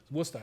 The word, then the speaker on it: Worcester: Worcester, you got to say it like the Massachusetts guys.